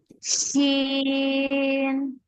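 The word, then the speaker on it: شين: জি মাহিয়া মেহেরিন আপনি এই হরফটা উচ্চারণ করেন সিন আরেকটু শব্দ হবে শি তালবস বাংলায় তালবস যেভাবে শব্দ করে উচ্চারণ করতে হয় এটাও কিন্তু ওই ভাবে শব্দ হবে শিশিন আবার বলেন শিন মাশাল্লাহ সুন্দর হয়েছে এটা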